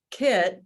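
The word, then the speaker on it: Kiett: is the kickoff day her name is jennifer kitt but it's spelled k-i-e-t-t and she is um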